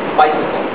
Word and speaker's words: bicycle: That's great if you pronounce it slowly. But it's not natural if you're speaking at a normal speed. So we don't say bicycle, we say bicycle.